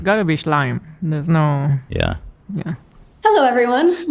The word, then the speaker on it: Schleim: Yeah, it's Schleim.